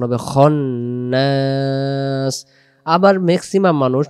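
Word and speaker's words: خناس: যাবে না এরপরে মিনশারিল বলা যাবে না এখানে খান্নাস বলা যাবে না উচ্চারণ হবে খনাস আবার ম্যাক্সিমাম মানুষ যে ভুলটি সবচেয়ে সূরা নাসের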